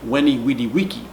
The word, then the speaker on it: veni vidi vici: the only difference is the V in classical line instead of being pronounced like go vu is pronounced like a W whoa and the C instead of being pronounced like choo is pronounced like like okay so the the phrase I learned veni vidi vici would be Wendy wedi vici which sounds really strange